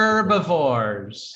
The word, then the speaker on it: herbivores: Herbivores. Herbivores. Herbivores. Yeah, we like Bart to know, so we're pronouncing the H even though we're Americans.